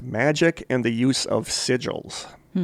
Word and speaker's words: sigil: It also discussed magic and the use of sigils.